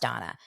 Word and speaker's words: Dana: Well, it's actually spelled Dana and pronounced Donna.